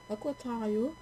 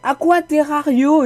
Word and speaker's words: Aquaterrario: Le mec c'est même pas lire son pseudo, c'est Aquaterrario et qui va pas me dire oh mais c'est lui qui met son pseudo, on le prononce comme on veut. C'est très bien écrit Aquaterrario.